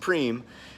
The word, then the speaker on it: prime: what is a Prem spelled Prime pronounced preem is a prize that